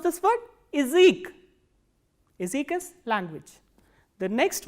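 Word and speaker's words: язык: So, what happens is when ya is in unstressed position, the sound of ya becomes e. So, how will you pronounce this word? Izik.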